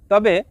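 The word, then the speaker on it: tak: Number 4, তা, যার বাংলা অর্থ না। শব্দটি লেখার ক্ষেত্রে লিখতে হয় তাক, তবে এর সঠিক উচ্চারণ হবে তা।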